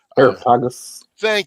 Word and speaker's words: Areopagus: Areopagus. Thank you. Always get the syllable on the wrong spot. It's that Greek language, you know.